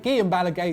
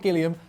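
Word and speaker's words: Guillem Balagué: to our good mate Guillen Bala gay not Gilliam to see what he thought about the matter only getting there getting that Spanish pronunciation down early but surely nevertheless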